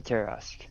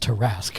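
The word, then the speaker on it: Tarrasque: the stats for a terask it's probably level four it's pronounced terrasque thank you uh okay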